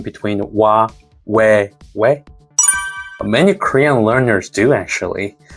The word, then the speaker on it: 외: The formula is o and plus e, but sounds like we. Important thing is that don't say oi. Start with o, glide forward, but stop just before you reach e.